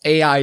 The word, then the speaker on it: AI: about the games context might pronounce it as AI the somnium files but the game central theme is centered around eyes which means that pronouncing it I'd the somnium files is also equally valid and I put this